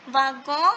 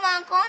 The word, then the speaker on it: wagon: So a wagon, that means a carriage. Okay, so wagon, in wagon, the here this letter is not pronounced as W. It is pronounced as v.